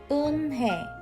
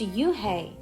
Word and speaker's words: Unhei: It's spelled Unhei. It's pronounced Eunhae. "Oh, it's Yuhei," the boy said.